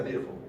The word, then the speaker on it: Virchow: Virchow, pero como es alemán se pronuncia Virchow. Entonces, Virchow.